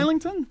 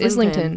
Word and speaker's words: Islington: Why isn't it Islington? What are we doing? Isn't it Islington? No, it's Islington.